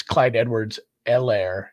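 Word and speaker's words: Clyde Edwards-Helaire: to ceh as much it's clyde edwards el air if anybody wanted any pronunciation help on that guy's name but if they can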